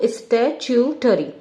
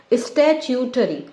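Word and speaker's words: statutory: हमारा नॉन स्टैट्यूटरी body, non स्टैट्यूटरी, स्टैट्यूटरी का pronunciation पे ध्यान दो, स्टैट्यूटरी, स्टैट्यूटरी, स्टैट्यूटरी।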